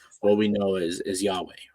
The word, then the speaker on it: Yahweh: we know is is Yahweh right um there's a theory that you the way you pronounce the name is actually your inhale and exhale so it's your breath